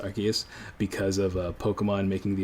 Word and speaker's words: Arceus: right because we kind of got confirmation that's pronounced Arceus because of Pokemon making the ability of the